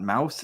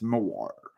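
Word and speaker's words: Maur: It's not mouse, it's Moar.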